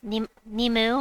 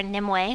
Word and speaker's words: Nimue: So Nimue or Nimue, however you want to pronounce it, I think she's underrated.